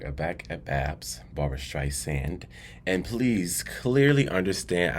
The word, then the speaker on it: Streisand: back at Babs Barber stri sand and please clearly understand I am pronuncia Barbara stri sand with an S not a z I know in the